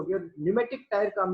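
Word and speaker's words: pneumatic: हवा भरी रहती है, उन टायरों को बोलते हैं न्यूमेटिक टायर। पी इसमें साइलेंट होता है, न्यूमेटिक बोलते हैं इसे।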